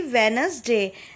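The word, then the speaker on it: Wednesday: है ट्यूसडे मंगलवार व्यवसाई वेडनेसडे इसमें डिप है यह साइलेंट होता है वेडनेसडे ने नहीं बोलेंगे हम बोलेंगे उन्हें वेडनेसडे देखें बुधवार टेस्ट यू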